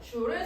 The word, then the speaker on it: 줄: J라고 읽으면 안 되고 줄이라고 읽어요. 줄. J라고 쓰면은 기호가 돼버립니다. 그래서 에너지의 단위도 1의 단위랑 똑같아요. 줄을 사용하게 되고요.